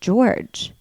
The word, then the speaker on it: Jorge: Sarah and George and his name is spelled Jorge and he's clearly Mexican oh right but his name is pronounced George I guess that's what